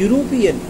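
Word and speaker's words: European: इसी तरह यहाँ ए से शुरू हो रहा है, लेकिन इसका उच्चारण क्या है, यूरोपियन।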